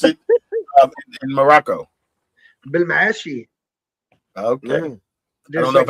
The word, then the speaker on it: Belmaachi: And so that's where the name comes from and it's not really pronounced like that in in Morocco, but I pronounce it Belmacci cuz it rhymes with Versace.